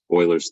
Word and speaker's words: Euler: Euler's theorem. That's how you pronounce it, Euler. U-L-E-R.